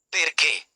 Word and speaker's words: perché: Words with the stress on the final syllable usually show it with an accent mark. Examples: città, c i t t a, city perché, p e r c